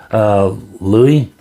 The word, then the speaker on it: Louis: Warmest regards, Andrew Louis. I'm pronouncing that L-U-I.